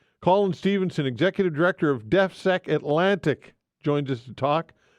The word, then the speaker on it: DEFSEC: Is that pronunciation proper? Is that or? Yes, DEFSEC, Defense and Security.